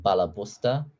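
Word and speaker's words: balabusta: And then there's like a Yiddish word where it's pronounced like Bala Busta.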